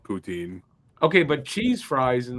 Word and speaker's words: poutine: is if you don't if you're not from Quebec and you don't know how to say it properly you say poutine if you're from Quebec where it was originated you say Puttin put it where you